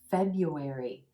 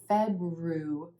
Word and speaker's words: February: of my students because there's an R in there that you don't actually say it's not fedra February it's February emphasis